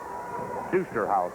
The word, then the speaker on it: Dusterhouse: Dusterhouse, I believe, is the correct pronunciation.